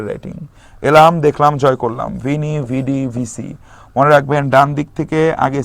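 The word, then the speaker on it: Veni, vidi, vici: অফ car Shakespeare writing এলাম দেখলাম জয় করলাম ভিনি ভিডি ভি সি মনে রাখবেন ডানদিক থেকে আগে সি তারপর ডি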